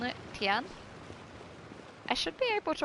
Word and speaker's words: Tian: Though it should be something I should remember, because my nan had a dog called Tia. And it's spelt that way as well, and then you just add an N on it, Tian.